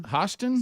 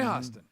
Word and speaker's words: Hostin: Hostin. Hostin. Sunny Hostin.